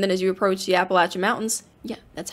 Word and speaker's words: Appalachian: And then as you approach the Appalachian Mountains, yeah, that's how you pronounce it.